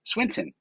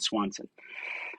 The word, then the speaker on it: Swinson: i hope this is swinson i said swanson i was thinking of swanson the consumer goods company and said your name wrong sorry all right so